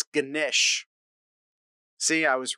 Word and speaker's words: Ganesh: It's Ganesh. See, I was wrong. I tried, though. Am I pronouncing it anywhere?